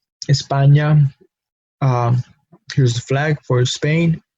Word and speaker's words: España: in English uh but once we add that small symbol or accent on top of it we have a different letter now we have Indian I'm have a different pronunciation New York and that's the only pronunciation that this letter has because we see it again in españa Espania here's the flag for